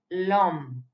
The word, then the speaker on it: l'homme: end of any word, please pronounce both the words, the word with the apostrophe and the next verb with it together. So it's l'homme, l'étoile.